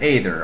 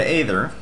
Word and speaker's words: Aether: later I pronounce it ather a lot of people criticize me for that but that's just the way I pronounce it can't really help it all right first